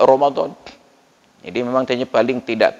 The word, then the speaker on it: Ramadan: Tapi bacanya wajib Allah sedangkan Romadhon memang tertulis r a m a d a n Ramadan tapi dibaca Romadhon jadi memang kayaknya paling